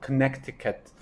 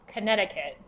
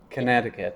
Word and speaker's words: Connecticut: some people pronounce it Connecticut uh the date is 1788 what is the correct pronunciation Connecticut Connecticut yeah so the middle C is silent Connecticut okay but in order